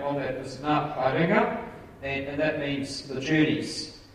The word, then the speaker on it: Ngā Haerenga: The pronunciation of the Maori name on that is Ngā Haerenga, and that means the journeys.